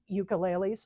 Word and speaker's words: ukulele: We have ukuleles. Ukulele. The ukulele. That's how they say it in Hawaii.